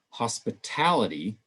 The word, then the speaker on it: hospitality: first syllable but then when we switch to hospitality now we've shifted the stress to the end of the word before we add this